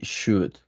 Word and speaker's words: should: So remember, this word in the first line, my parents have always believed that we should. Remember, you don't pronounce the L, right?